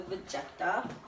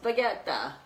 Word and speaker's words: Vegeta: couple tablespoons of the Vegeta. Or, no, I'm pronouncing it wrong. It's Vegeta. I'm like, oh, you mean like baguette about it? He's like, yeah, that's it. That's how you say it.